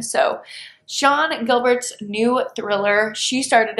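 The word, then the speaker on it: Sian: I believe I pronounced that Cian Gilbert, but it's actually an Irish name pronounced Sean. So Sean Gilbert's new thriller, She Started It, is about a bachelorette trip gone wrong in the Bahamas.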